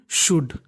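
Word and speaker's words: should: ओ यू एल डी शुड एस एच ओ यू डी शुड इसमें एल हमारा silent रहता है और इससे जुड़े हुए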